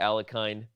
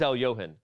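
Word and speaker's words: Alekhine: the other things surrounding the alakin as he's often pronounced but it is Al Yohan if you didn't know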